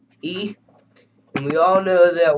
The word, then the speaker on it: y: E. By the way, if you haven't already understood that Y sounds like E, and we all know that Y means hand.